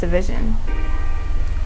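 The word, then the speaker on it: GVSN: me by GV SN you may know him as DV offense but his name is actually pronounced division this song has a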